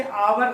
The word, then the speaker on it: hour: जो स्वर ध्वनि से, जैसे आवर शब्द है HOUR, स्पेलिंग जरूर H से, वो H क्या है आपका ABCD में, कॉन्सोनेंट है, लेकिन जब इसका उच्चारण हम करेंगे, प्रोनाउंस करेंगे हिंदी में, आवर लिखेंगे, आ बड़ा आ